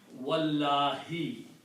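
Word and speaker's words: وَاللهِ: Then you pronounce this together, waw and Allahu, and don't pronounce alif. So it will become wallahi.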